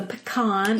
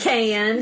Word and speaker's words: pecan: I think one of the most famous in the South is the pecan or the pecan, depending on where you live. Yes. How you say it.